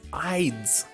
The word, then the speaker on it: Ides: Let me check how to pronounce this ancient thing he's using. It's called just Ides.